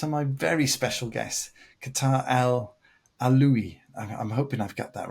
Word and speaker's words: Kawtar El Alaoui: with Simon Phillips and my very special guest, Kawtar El Alaoui. I'm hoping I've got that right. You tell us how you would pronounce it. I pronounce it Kawtar El Alaoui, El Alaoui.